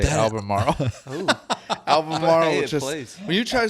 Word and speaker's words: Albemarle: Albemarle. Albemarle. Yeah. Albemarle. Just say it like you got a biscuit in your mouth. Yeah. Albemarle. Say it like your mouth's full.